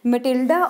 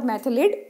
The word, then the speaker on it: Mathilde: So our heroine, Matilda or Mathilde. So both the pronunciations are correct.